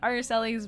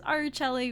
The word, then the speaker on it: Araceli: ever since then, and a lot of people pronounce it as Araceli, which I don't blame them for, because at what point what other point does Celli really appear? But to me, it's always been Araceli.